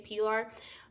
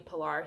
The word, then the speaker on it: Pilar: Pilar and Pilar Spanish but in Spanish people they if you're watching this you're in Spanish you guys probably say Pilar but typically everyone just pronounce my name Pilar so yeah my name